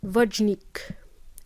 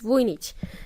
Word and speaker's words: Vujnic: So when the native speakers try to pronounce my name, they pronounce it as Vojnik. And in Spanish, my Spanish friends, they pronounce my name as Buchnik. So it's none of those. It's Vujnic. Anyway, but good try though.